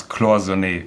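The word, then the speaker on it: cloisonné: a true Patek connoisseur you have to learn how to pronounce closely because that's that's the way it's being pronounced should it be uh Khaleesi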